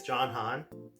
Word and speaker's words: John Han: So my name is John Han. It rhymes and it's easy to remember.